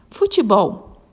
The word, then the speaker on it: futebol: Futebol. Qual é a sílaba tônica e qual a sua classificação? Muito bem, ela é uma palavra oxítona, pois a sílaba tônica é o bol, é a última sílaba, futebol.